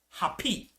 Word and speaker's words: Hapi: that was called hapi it spelled h a p i happy happy was the god